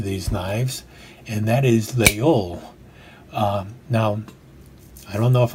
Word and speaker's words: Laguiole: There's also another name that is given to these knives, and that is Leol.